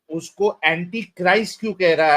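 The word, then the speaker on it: Christ: Okay अबे अबे anti क्रिस्ट की कुछ लगती है वो क्राइस्ट होता है क्रिस्ट नहीं होता अपनी प्रोनाउंसिएशन बताइए यस लिखा हुआ है वहां ऊपर।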